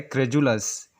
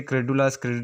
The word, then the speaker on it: credulous: यहाँ पर भी डी लेटर जो हम लोग इसे जे प्रोनाउंस करना चाहिए, जिससे होता है क्रेजुलस। अक्सर हम लोग इसे क्रेडुलस करके प्रोनाउंस करते हैं, जिसका अर्थ होता है रेडी टू बिलीव।